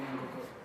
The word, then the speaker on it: Ngoko: So how do you say it? Chicken. Ngoko. Angoko. Repeat after me, Ngoko.